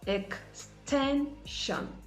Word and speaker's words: extension: Words ending in SION and TION, the shon sound. The stress is usually placed on the syllable before the last, as I said earlier. So you have extension, extension, retribution, retribution.